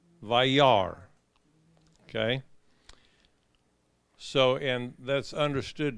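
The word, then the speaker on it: וַיַּרְא: And now that you know how to pronounce that word, I'll show it again. Vayar. Vayar.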